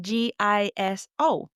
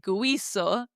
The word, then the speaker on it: guiso: We don't pronounce the U. It's like it was written G I S O. We go straight to pronouncing the I. That's right. We're not saying guiso.